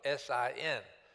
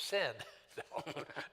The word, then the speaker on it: Sin: sometimes you spell it s i n so people oh he worshiped sin no the name of the God was pronounced s en sin sometimes spelled s n